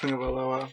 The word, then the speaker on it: Tagovailoa: And although it doesn't look like it's pronounced Tagovailoa, which I know some people have a problem with at the table, that's how it's pronounced.